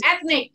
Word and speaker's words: ethnic: Okay, ethnic. Jadi ethnic itu ada T dan H, itu terletak lidahnya di antara dua gigi. Ethnic.